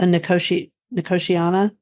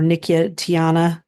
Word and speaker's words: Nicotiana: Okay, on page 17, Tobacco Cranberry Isles, which is a Nicotiana or Nicotiana, depending upon how you pronounce it.